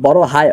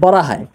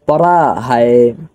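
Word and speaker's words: بڑا ہے: একটা কথা মনে রাখবেন, এখানে যে যদি আপনি উচ্চারণের ক্ষেত্রে এভাবে বলেন যে বড়া হায়, তাহলে কিন্তু উচ্চারণটা হলো না, উচ্চারণটা একটু মোটা করে বলতে হবে, এভাবে যে বড়া বড়া হায়, বড়া হায়।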